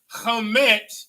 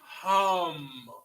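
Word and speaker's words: הם: So Hamet is where you get Kemet from. All right. Okay. So Pete. All right. So how do you say they in Hebrew? Hum. Not ham. Hum. Like hum.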